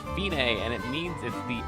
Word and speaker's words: fine: C it looks like fine but it's pronounced Binay and it means if the end the finish